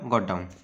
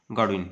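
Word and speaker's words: Godwin: प्रवक्ता थे अराजकतावादर विलियम गॉडडाउन क्या अराजकतावादर जनक कह पाने ना विलियम गॉडविन है विलियम गॉडविन पाने भूल प्रोनाउंस कली विलियम गॉडविन कौन थे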